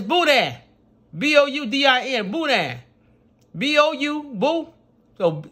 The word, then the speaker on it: boudin: be saying boudin bulldog booty it's buddha b-o-u-d-i-n buddha b-o-u boo so just say boo b-o-o boo that you gotta put